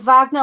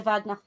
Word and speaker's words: Wagner: I'm going to pronounce it Wagner, like the composer, because it's German. It probably was pronounced the same.